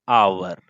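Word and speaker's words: hour: अगर हम यहां पे भरेंगे दोस्तों तो हम क्या भरेंगे, 40 किलोमीटर एन आवर। अब एन क्यों इस्तेमाल किए, बिकॉज इसका प्रोनाउंसिएशन आवर हो रहा है, so that's why एन यूज हुआ।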